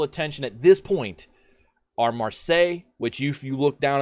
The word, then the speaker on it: Marseille: Marseille is the actual way to pronounce it.